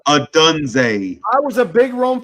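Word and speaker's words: Odunze: Adunze.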